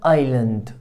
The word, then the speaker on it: island: جزيرة island island island، الاس مش هننطقها.